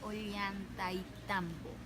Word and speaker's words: Ollantaytambo: Sí, la verdadera pronunciación es Ollantaytambo.